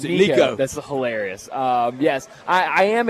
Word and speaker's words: Nico: He said, yeah, here's how you pronounce it, Nico.